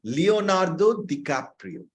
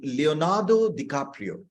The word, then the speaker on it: Leonardo DiCaprio: না, ডিক্যাপ্রিও, লিওনার্দো ডিক্যাপ্রিও। ওকে, ঠিক আছে, অসুবিধে নেই। এমনি অনেক সময় উচ্চারণে ভুল হতে পারে। উচ্চারণ হচ্ছে লিওনার্দো ডিক্যাপ্রিও।